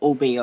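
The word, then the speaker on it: Obeah: So for example, we do have the practice of obia. Is that how you pronounce it? But we say it obey.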